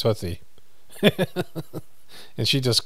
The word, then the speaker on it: Houthi: It's actually pronounced Hootie, like Hootie and the Blowfish. That's what they're saying on the news. And I said to my wife, and she goes, I think it's Houthi.